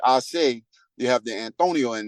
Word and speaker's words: Ace: So being that my real name is, and my last name is, the pronunciation for ACE is not really Ace. It's supposed to be Ase, right?